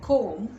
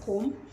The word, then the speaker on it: comb: it in words like comb the b silent comb in subtle subtle the